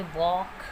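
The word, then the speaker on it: walk: के का एग्जाम्पल हम देखेंगे वॉक, टॉक, चॉक। तो यहाँ पे एल के बाद के है जो कि साइलेंट है।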